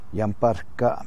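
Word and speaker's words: Yamparika: were the yampa indians i know that it's spelled yampatika is how you say it phonetically but it's the ute word is yamparka means root eaters or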